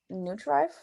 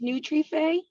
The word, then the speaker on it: Nutrife: why don't you first start telling us about neutral did i say it right it's pronounced nutrife um it came from i'm latina uh and